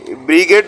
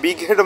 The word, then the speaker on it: বিগ হেড: সেটি হচ্ছে বিগ হেড অনেকে ব্রিগেড মাছ বলে থাকে কিন্তু আসলে মাছের উচ্চারণটা হয় বিগ হেড মাছ এবং এটাও আপনার 18